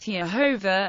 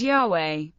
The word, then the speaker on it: Yahweh: Many magical texts in Semitic and Greek establish an early pronunciation of the divine name as both Yehovah and Yahweh.